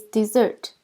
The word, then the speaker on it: dessert: This is dessert. Notice that the first syllable is D and the second starts with the Z sound. We stress the second syllables.